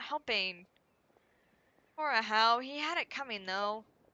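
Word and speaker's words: Ajaw: name because I'm like I'm not going to think that based of how it's spelled. Then I'm going to think a jaw, not a how. But as long as I hear it, then I remember it's not pronounced the way it looks.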